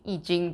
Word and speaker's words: I Ching: i do realize that i'm using the tr the chinese pronunciation of of ai ching eejing but i'm saying tao like in a totally english accent um just i never